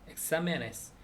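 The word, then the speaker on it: exámenes: 근데 엑사멘 시험들을 복수로 만들어 주면은 뒤에 es가 붙으면서 맨이 마지막 음절이 아니라 네스가 엑사메네스 그 마지막 음절이 네스로 되면서 엑사메가 두 번째 음절이 되죠. 근데 엑사메네스 그러니까 원래 엑사멘의 음절 강세가 있던 거를 그대로 가지고 가라. 그렇기 때문에 잘 모를 수도 있으니까 거기에 틸데 강세를 해주는데 엑사메네스.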